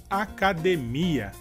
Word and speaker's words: academia: E em português seria academia. E a diferença seria que na palavra academia, a sílaba mais forte seria de. E em português, a sílaba mais forte seria mi.